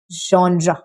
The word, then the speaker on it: genre: Now, the fourth word is genre, not genre or no j sound. There is no j sound, right? There is genre, the sound which you use while pronouncing the word vision, right?